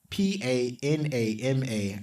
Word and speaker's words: Panama: It's it's 6 letters, 3 syllables. You mess it up like people mess up my name. Anyway, not my fault. and all the vowels are the same.